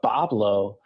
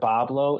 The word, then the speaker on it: Boblo: the pronunciation interestingly enough the pronunciation of pablo comes from the french white wood wah blanc um because you know